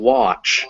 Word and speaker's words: watch: Now an A after a W sound, which remember QU is pronounced qua in English with that W, unless it is followed by a K, a G, or an NG, it'll be ah. So want and watch, but not wag.